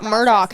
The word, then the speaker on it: Murdaugh: remain here for it why do we have to pronounce it Murdoch and why is his name Alec when it's spelled Alex I don't know weird